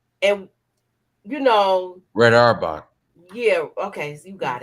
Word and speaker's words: Auerbach: And you know, Red Auerbach.